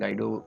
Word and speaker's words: Guido: गाइडो वन रसम, आप इनको कहीं कहीं ग्यूडो वन रसम कहते हैं, कहीं कहीं गाइडो बोलते हैं, लेकिन ये अलग अलग कंट्री का अलग अलग परसेप्शन है, वहाँ पे किस तरह से प्रोनाउंस किया जाता है।